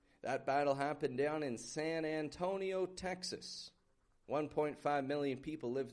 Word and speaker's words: San Antonio: Again, modified wide A on San. Repeat that after me. Sayan. Sayan. Not a San. Not San Antonio, but San. Antonio. Another an in the beginning. Antonio. Antonio. However, the an isn't getting the stressed part in this word. The O in the middle is Antonio. That's when it goes up in pitch a little bit, gets kind of stronger, more stretched out. San Antonio.